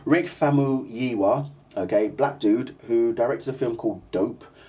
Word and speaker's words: Rick Famuyiwa: Rick Famuyiwa, okay, black dude who directed a film called Dope.